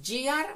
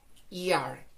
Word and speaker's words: ear: A gear, no decimos entonces gear, vamos a pronunciar ear, ear.